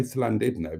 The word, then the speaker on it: Llandudno: says slid no oh always say slido because that is the correct pronunciation but I'm all ears